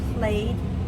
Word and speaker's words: played: We do not say played. The children played in the park.